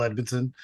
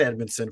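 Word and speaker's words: Edmundson: interesting you talk about Joel Edmondson yes I was going to say it rhymes with red medicine but yeah I had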